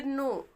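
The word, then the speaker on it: know: है इसको हम पढ़ेंगे नो नो ठीक है इसमें के साइलेंट होता है कनो नहीं पढ़ते हैं नो पढ़ते हैं एन ओ डब्लू बस इसको पढ़ते हैं नो या नाउ नहीं पढ़ते बस बीच वाला जो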